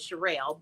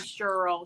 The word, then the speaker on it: Sherelle: my real name is Sherelle but um the is something that I created for people on my job because nobody could pronounce shirelle they call me Cheryl Shirley everything but what it is yeah and so because